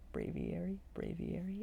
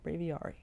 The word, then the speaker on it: Braviary: got hissui and braviary braviary it's not braviari i know that not braviari bravieri because it's aviary bray v airy hissui and braviary hissui